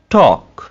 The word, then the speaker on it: talk: could, should, talk, walk, walk, half, salmon, salmon। तो आपने इन मिसालों में देखा कि एल कैसे साइलेंस हो रहा है, ठीक है, एल को हमने ड्रॉप कर दिया।